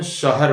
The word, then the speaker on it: शहर: जो लिखा हुआ है पढ़ने में बोलने में शहर लिखने में शहर तो ज्यादातर लोग गलती क्या कर देते हैं शहर बोलते हैं मैं शहर गया नहीं मैं शहर गया था यह सही तरीका है